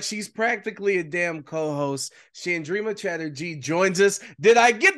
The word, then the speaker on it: Chandrima Chatterjee: bonus episodes like she's practically a damn co-host chandrima Chatterjee joins us did I get the pronunciation right finally yes new year new new